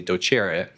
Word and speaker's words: docere: taught me that the origin of the word doctor is docere, or pronounced properly docere.